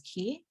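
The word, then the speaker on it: 기: and the concept of key or Chi so similar to Herb and Herb it's pronounced differently throughout Asia so in Korea we pronounce it as key and P is an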